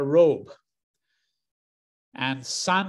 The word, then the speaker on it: Robeson: pronunciation of his name he was once asked how should your name be pronounced and he said well it's made up of two words really the first half robe is pronounced exactly the way that you just pronounce the garment that one often wears after waking up in the morning or when one is lounging around a robe and son he said signifies the male child of the family and so